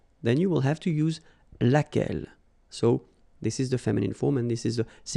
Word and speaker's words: laquelle: So basically same rule, Q-U, U is not pronounced here. And then you get this E, double L-E. Well, phonetically here, it is the same as what we have here. So, laquelle.